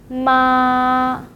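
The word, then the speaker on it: 妈: Ma, ma, ma.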